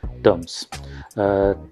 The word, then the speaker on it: Turms: decision to buy brand called terms and we we spell it like t-u-r-m-s terms terms what does it do